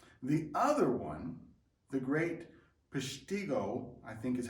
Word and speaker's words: Peshtigo: The other one, the Great Peshtigo, I think is how you pronounce it, fire of the forests of the